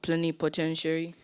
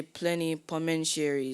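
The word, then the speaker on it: plenipotentiary: on behalf of another when I when I say plenty commentiary is that right no plenty potentiary plenty potentiary right could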